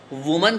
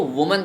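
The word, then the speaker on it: woman: अगर उनकी शादी हो गई है तो वो वुमन कहलाएंगी। इसका प्रोनाउंसिएशन एक बार रिपीट कर लो, वुमन। इसको वुमन कहते हैं, वुमेन वुमेन नहीं कहते हैं, वुमन कहते हैं, वुमन।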